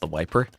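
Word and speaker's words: TheViper: The Viper is actually pronounced the wiper.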